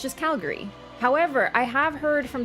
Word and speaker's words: Calgary: to know everything about Calgary, that it's actually pronounced Calgary. And I was like, I don't know, but do we have anyone from Calgary here? Like, the Gary is really enunciated, apparently.